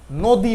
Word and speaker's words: নদী: তারপর দেখুন লক্ষ্য করুন নদি এখানে লিখ আমরা নদী কিন্তু উচ্চারণের বেলে আমরা কি করছি নদী বলছি নয় ওকার দিয়ে নদী তার মানে এই নর সাথে যে অটা ছিল সেই অ ধ্বনিটা ওর মত উচ্চারণ হচ্ছে আবার অতি বানানে দেখো